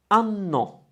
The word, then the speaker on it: anno: Now the word is like the English annum, like per annum, and that's the Italian version, and it's anno. A, pause, no, with a double N.